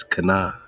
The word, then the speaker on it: Cynan: Now this Canaan is spelled Cynan, but it's Canaan.